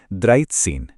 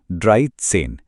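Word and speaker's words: dreizehn: पहला था द्राइथ सीन। इसका सही प्रोनंसिएशन है ड्राई सेन। इसमें द्राई का आई साउंड और सेन का सेन साउंड दोनों रूल्स लग रहे हैं।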